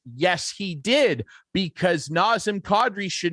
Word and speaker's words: Kadri: Nazem Kadri. It's not Kadri, it's Kadri.